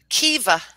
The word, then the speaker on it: kiva: Kiva. Kiva. Am I pronouncing that correctly?